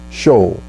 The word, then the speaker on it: Sheol: The equivalent word in Hebrew or the Old Testament is the Hebrew word Sheol, S-H-E-O-L, if I'm not pronouncing it right.